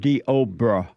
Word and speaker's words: Deobra: I'm told by Derek, my producer, it's pronounced Deobra.